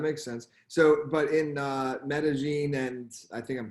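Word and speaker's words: Medellín: So, but in Medellin, and I think I'm pronouncing that right, Medellin. Yeah, Medellin.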